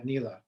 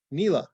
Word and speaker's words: NELA: The abbreviation is Northeast LA, but we go by NELA. NELA, okay.